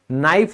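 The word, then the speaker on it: knife: जैसे चाकू, नाइफ होता है, कनाइफ नहीं होता, ये साइलेंट है।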